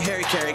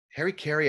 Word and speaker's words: harakiri: Harry Carey, I think, is like a celebrity personality, but it's also the way a lot of Americans pronounce harakiri, which is some kind of Japanese sword technique.